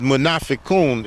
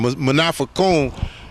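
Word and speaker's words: munafiqun: hypocrite in in Arabic is manafon if I'm if I'm not mistaken I believe that spelled m u n a f i q u n if I'm not mistaken manafa is the how you pronounce it I I think and this would be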